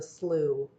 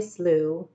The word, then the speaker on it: Slough: English class that bunions slough rhymed with how miss Fowler had made